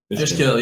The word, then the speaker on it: Fishkill: I wasn't sure how to pronounce it. Fishkill, yeah.